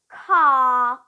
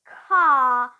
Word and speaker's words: car: all right for example car car now you can see I don't pronounce the r because it is at the end of a word car system sis sister